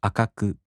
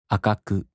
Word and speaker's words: 赤く: In the flat type, there's no accent. For example, 赤い turns into 赤く. As I said, there's no accent. 赤く.